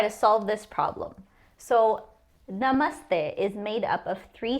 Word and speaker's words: namaste: So the a sound in the first syllable n is the same sound you get when you say the word up. So a na. Same thing for the second syllable. M up up a m stay. Now I do not know why most people want to say stay when they see this but it is e like the e in end.